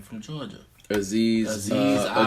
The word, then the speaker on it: Ojulari: So I'm gonna go with how do you pronounce this young man's name from Georgia? Aziz Ojulari. Ojulari.